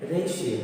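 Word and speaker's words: ratio: तो इसमें देखिए ये राज्य नहीं है, यानी रेटिया नहीं है, इसका प्रोनाउंसिएशन क्या होगा, टी के बाद आई है तो सा होगा, तो इसका प्रोनाउंसिएशन है रेशियो।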